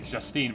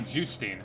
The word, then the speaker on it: Justine: Because one of the twins is named, I mean, the way I'd pronounce it as an English speaker would be Justine, but they say Justine, which is how that name would be pronounced in Japanese.